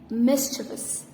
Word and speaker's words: mischievous: started in the lesson the last word is mischievous mischievous this is one of the most mispronounced word commonly mispronounced mischievous mischievous and the